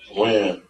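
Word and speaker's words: Wynn: Win or Wan? Win.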